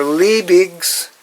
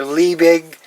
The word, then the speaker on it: Liebig: produced by baron justice von lee labeg or liebig however you want to pronounce it and this was a